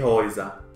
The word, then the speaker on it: Häuser: Gläser, das Haus, die Häuser. Cuando una sílaba es con A, U y umlaut sobre la A, la pronunciación es OI. Igual que una sílaba con E, U, que se pronuncia OI.